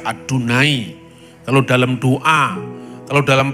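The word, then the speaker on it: יהוה: misalnya ee Sima yisrael tertuliskan yhwh y tidak pernah dibaca yahwe kalau orang Yahudi membaca adunai kalau dalam doa kalau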